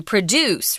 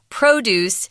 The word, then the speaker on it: produce: roots and Taiwan's produce produce here is a noun guys it is not a verb and they're pronounced differently so the verb is to produce write produce but the noun produce refers to fresh fruits